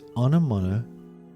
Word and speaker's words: Onomatopoeia: Salamangreat Raging Phoenix, Onomatopoeia, and I don't think you understand how many times I've heard this card be mispronounced. It's Onomatopoeia, for those that can't figure it out yet.